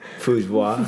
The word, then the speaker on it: Fujiwara: Is that how you pronounce her last name? Fujiwara.